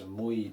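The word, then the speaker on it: mój: The good news is that they're very, very short words and they rhyme. So remember this, muy, twoi. Note that O, that accent on the O, as we saw in Viet Chord.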